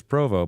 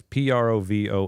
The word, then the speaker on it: Provost: everybody the pronunciation is Provo but the spelling is p r o v o s a silent St that's correct it's a French name yeah got it so